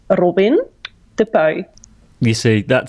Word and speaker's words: Robin De Puy: I will do it in Dutch, so it sounds like my real name. So my name is Robin De Puy.